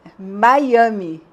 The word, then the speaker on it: Miami: m i de novo você escreve Miami com e Miame Miami não é com i Miami com i que é ai my é Miami você não esc não fala como se escreve e tem outras que